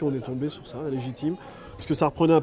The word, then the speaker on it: Les J team: essaie aussi de revendiquer légitime à dire comme ça on a l'impression que ça s'écrit comme légitime en fait non c'est un jeu de mots c'est les dis un J et Tim voilà c'est bien surtout